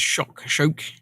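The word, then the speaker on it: kök: Swedish word for kitchen is kock, where the first K is pronounced SH. The second one is K, so it's shock.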